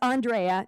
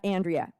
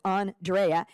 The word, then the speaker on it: Andrea: Andrea is that correct it's Andrea not Andrea that name has a lot of pronunciation so it's on Drea and I would just